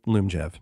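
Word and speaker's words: Lyumjev: how do you spell it's it's l loom jeff that's how you pronounce this but um so you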